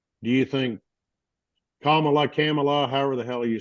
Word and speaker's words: Kamala: was asked literally is like, do you think Kamala, however the hell you say her name? Kamala.